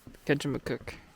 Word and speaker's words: Kejimkujik: Ancient hemlock forest, and I don't know how to pronounce the name of this national park. What is it, Jeff? Kejimkujik. Kejimkujik National Park in the western region of Nova Scotia.